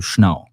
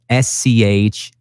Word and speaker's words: Schnau: and my last name, Schnau. So I'm always saying, just think about the dog, just leave the Z-E-R out.